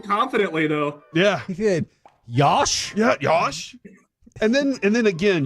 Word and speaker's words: Yosh: Left tackle, Josh. Yosh. Starts with a Y.